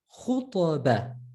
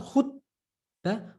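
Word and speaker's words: خطبة: Khutaba, khutaba. Ta, right? So not khutba, khutaba.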